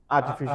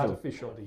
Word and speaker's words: artificial: They felt like Artificial. artificial-y. Not good quality. Okay. So artificial is the correct pronunciation. Artificial is wrong.